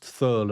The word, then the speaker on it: Thurl: the thurl Ravenscroft version I hope it's pronounced thurl and not turl or something he had such a